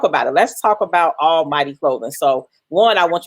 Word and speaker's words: Almvghty: I'm the founder designer behind Almvghty Clothing. That's Almighty spelled with a V.